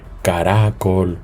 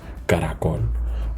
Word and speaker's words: caracol: en tapiz en caracol fijémonos en caracol nosotros no decimos caracol o caracol verdad nosotros decimos caracol por lo tanto decimos caracol la última sílaba es la palabra aguda y estas palabras